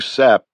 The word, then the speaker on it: SAP: The chief read me into a new sap, he said, pronouncing the acronym like the stuff of pine trees, short for special access program.